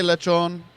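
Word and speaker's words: lechón: Cubans say lechon. A lot of the other Hispanics will say peril. Lechon say, you say lechon.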